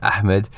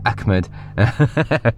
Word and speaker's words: Ahmed: I don't know if you guys can see it, but funny enough, that's how some people pronounce my name. Instead of saying Ahmed, they say Ahmed or Ahmed.